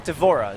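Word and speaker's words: D'Vorah: Is it how'd you pronounce her name? Devora, is that right?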